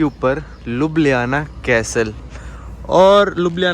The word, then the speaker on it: Ljubljana: पूछ भी रहा यार इसको प्रोनाउंस कैसे करते हैं क्योंकि लिखने में तो लोग लज्जू ले जाना कुछ ऐसे आता है तो इसको के को ना ये ए कोई देश भाई बोल देता है कोई देश हा बोल देता है तो वैसे प्रोनाउंस ये लोग कहते हैं लब ले आना ठीक है तो यहां